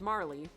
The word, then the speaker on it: Marle: now it's like the marl and Marley argument from chrono trigger everybody's like is her name aural or Marley Marl it's spelled ma RL e that's tomorrow yes but